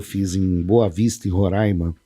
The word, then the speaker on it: Roraima: É Roraima, né? Que a pronúncia. Aprendi isso quando eu cheguei lá. Roraima. É porque aqui em São Paulo a gente fala Roraima. Roraima. Aí você fala Roraima, mas com brava. É Roraima a pronúncia.